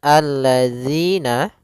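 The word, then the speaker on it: الَّذِينَ: Pada lafal zi, hati-hati jangan sampai terbaca dengan zi, karena di sini huruf zal. Yang mana untuk huruf zal sendiri makhrajnya adalah ujung lidah kita menempel dengan gigi seri atas, sehingga atau bisa kita gigit sedikit zi gitu ya.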